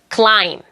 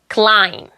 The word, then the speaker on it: climb: 일단 B가 묵음이 되는 단어들. climb, climb, lamb, lamb.